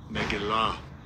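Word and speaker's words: מגילה: Let's hear how it's pronounced. They're going to butcher it. Strong's H4039. Megillah.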